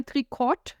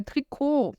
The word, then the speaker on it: Trikot: Não é tricot, é tricot, tá? Vem aí do francês e por isso eu não falo esse T no final.